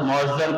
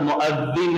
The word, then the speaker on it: مؤذن: کے 3 مؤذن تھے، ہمارے پاس مؤذن کہتے ہیں، اصل لفظ مؤذن ہے، زال کے نیچے زیر آنا۔ مؤذن کے معنی اذان دینے والا، مؤذن صاحب ہوتے، یہ غلط تلفظ ہے ہمارے پاس جو اردو میں استعمال ہوتا، صحیح تلفظ مؤذن اذان دینے والا۔ تو